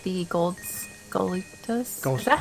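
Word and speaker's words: Skulltula: I wonder if Ash likes gold spiders, because I think he mentioned earlier that he doesn't like the gold scolitas. Is that how you pronounce it? Sculptulas.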